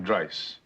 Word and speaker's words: Dice: Dice. Rhymes with price, which is currently 70 bucks an hour, four times a week.